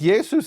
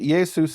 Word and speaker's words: Yesus: In fact, Jesus is exactly like writing Shimon as Simon in Hebrew letters, and here they wrote it Jesus in Greek letters.